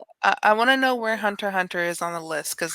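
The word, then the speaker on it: Hunter × Hunter: ask him okay yeah hunter x hunter is the way it's you pronounce the hunter hunter but it's written hunter x hunter and the other one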